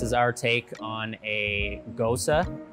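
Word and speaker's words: Gose: our take on a ghosta so it's spelled g-o-s-e but pronounced gosa it's actually a german-style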